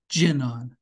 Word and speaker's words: Jinan: His name is pronounced Jinan.